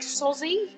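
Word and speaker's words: Sozie: Is it spelled S-O-Z-I-E? Like Sozzy? Yeah.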